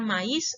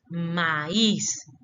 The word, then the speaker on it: maíz: La palabra maíz es maíz, ¿sí? Bien separaditas esas dos vocales, no van juntas porque la palabra no es maíz, es maíz, ¿sí?